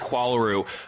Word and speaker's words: Qualaroo: So you started at Qualaroo uh and you sold and I'm pronouncing that correctly, right?